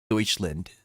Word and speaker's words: Deutschland: I'm in freaking Deutschland.